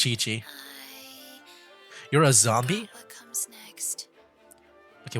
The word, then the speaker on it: Qiqi: uh this character which I'm going to guess is pronounced as Kiki but I guess we'll find out right now oh Chi-Chi never mind it is Chi-Chi you're a zombie next